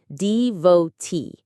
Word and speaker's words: devotee: The stress is on the last syllable, devotee.